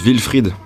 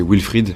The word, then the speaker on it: Wilfried: est merci à 2010 wilfrid se prononcent ville fried en allemand et en français w se prononcent v c'est vrai ville fried avec un e c'est un prénom allemand ça se dit ville frites et anglais c'est wilfried avec un isolement mais je vois bosch